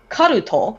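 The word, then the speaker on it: カルト: occult and one called karuto which is the japanese pronunciation of cult and they are two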